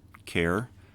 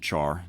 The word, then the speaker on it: char: a simple char type sometimes people pronounce it care sometimes people pronounce it char it all depends on kind of your personal preference there i tend to say char but it's up to